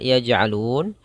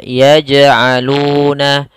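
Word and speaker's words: يَجْعَلُونَ: Apabila ada huruf jim, dia berharakat sukun, maka ini hukum bacaannya adalah qalqalah. Qalqalah yaitu memantul hurufnya, dan memantulnya tidak boleh dibaca dengan pantulan putus seperti ini. Yaj'alun, ini putus, akan tetapi harusnya berjalan. Ya, seperti ngomong biasa.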